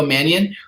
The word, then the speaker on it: Mannion: his last name Nikko manian Matt Mannion Nico Mannion who it seems like is like destined to